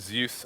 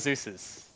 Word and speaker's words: Zeus: I just realized that Zeus rhymes with goose have you heard that